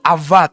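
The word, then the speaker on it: עבד: itu menggunakan kata Ibrani spellingnya abad tapi dibacanya tuh Afat karena B itu biasanya V dalam lafal Ibrani kata al-fath ini itu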